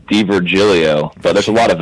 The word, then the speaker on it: Di Virgilio: oh hey no worries the tough Italian last name and it's it's D Virgilio so there's a lot